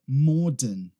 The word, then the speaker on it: modern: Se tiver o inglês britânico, você não vai pronunciar aquele R. Se você tiver o inglês americano, você vai falar modern. Modern, tá? Modern, modern, tá? Não é modern, como algumas pessoas acabam falando, tá?